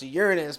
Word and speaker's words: Uranus: fourth largest moon of Uranus sometimes pronounced Uranus by those astronomy nerds discovered in October 1851